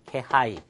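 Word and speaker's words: 気配: 자, 그리고 이 기자를 케라고 읽는 케이스가 있는데 일단은 습기란 단어를 식계라고 읽었습니다. 식계. 그 다음에 이 기자 자체를 어떤 기색이 있다 할 때 케하이 아시겠죠?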